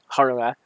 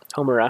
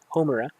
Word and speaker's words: Homura: basically, like actual thing, harnessing the power of Haruma, um, or Homura. I always say her name wrong. Um, Homura.